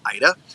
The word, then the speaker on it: AIDA: Was originally owned and operated by AIDA, A-I-D-A. I believe it's pronounced Ida, and it was known as the Ida Vida.